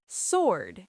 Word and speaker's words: sword: Sword. S wo r d sword. That w in the middle. Gone.